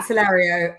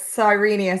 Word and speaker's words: Serenia: excuse meia Stakes yeah I said sario it's sirenia Stakes yeah silly names my